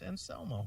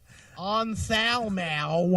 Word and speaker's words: Anselmo: And pronounce his name right, will you? It's Anselmo. I know how to say it. Anselmo.